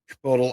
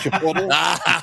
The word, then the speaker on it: Chipotle: Chipotle, IBM.